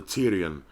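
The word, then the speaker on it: pterion: area it's called the Tyrian starts with a P but the P is silent Tyrion is of clinical importance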